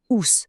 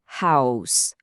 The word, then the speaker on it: house: Il transforme un vilain ous tout plat en un beau house, bien prononcé pour house.